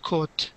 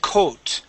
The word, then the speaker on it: caught: the word caught okay here you said coot using an o sound coot the word would be